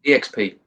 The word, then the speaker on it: eXp: Do you pronounce it EXP or X? How are you saying it? Yeah, EXP.